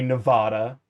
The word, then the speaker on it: Nevada: Or should I say Nevada? Because that's how it's fucking pronounced. It means snowy in Spanish.